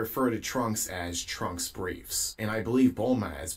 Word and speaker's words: Brief: Her father's name is Dr. Brief, not Briefs, and Brief isn't his last name.